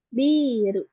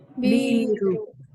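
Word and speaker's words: ビール: Mungkin hati-hati kebalik ya. Ada yang ini biru panjang kan ya. Terus lalu ada biru biru yang nggak pakai pengucapan panjang itu artinya itu bangunan. Jadi berarti minasan kebalik. Kalau yang biru itu minuman bir.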